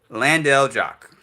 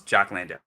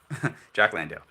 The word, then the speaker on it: Jock Landale: Australia's made a substitution for I want to pronounce this brother's name right, so Landale Jock. I hope his name is Jock Landale. Yeah. Okay. All right. There we go. Jock Landale.